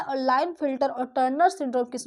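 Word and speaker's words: Klinefelter: Line filter syndrome syndrome देखिए के यहां पर साइलेंट होगा। इसको पढ़ते हैं लाइन फिल्टर सिंड्रोम और यहां पर हमारा आता है डाउन सिंड्रोम।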